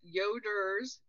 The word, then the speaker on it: Yoder: couple things for listeners yoders y-o-d-e-r correct yes not yoda don't get too excited